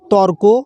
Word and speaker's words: তর্ক: শব্দের মধ্যে উচ্চারণ করার নিয়ম হচ্ছে: ত ক রেপ ফলা সংযুক্ত তর্ক, অর্থাৎ ত এবং কয়ের মাঝে একটা র ধরব।